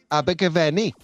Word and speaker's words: Abergavenny: Welsh all the time, Abergavenny. Abergavenny. There you go. Because you've got to roll your R's a little bit.